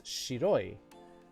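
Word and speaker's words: 白い: so shiroi kitsune here will you pronounce this as shiroi because there's no other kanji around here around this white shiro shiroyi as opposed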